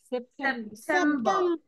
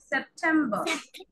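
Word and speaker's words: September: আর পি ই আর সেপ্টেম্বর সেপ্টেম্বর শেষের আর টা আমরা উচ্চারণ করবো না ঠিক আছে সেপ্টেম্বর আগস্ট সেপ্টেম্বর তারপর অক্টোবর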